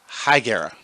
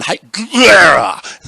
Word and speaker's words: Higuera: It is spelled Higuera. Higuera. Siri can't even say it. Like it sounds like he's gargling, like he's chewing on something. Take a left on Higuera.